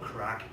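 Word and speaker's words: craic: And the main one that I'm going to talk about is a small word called crack. Now to me, it's spelled C-R-A-I-C, which is a Gaelic word, and it means fun, enjoyment.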